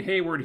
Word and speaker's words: Hayward: So we go to the briefing, and Hayward, I think his name is Hayward, I was pronouncing it Wayward before.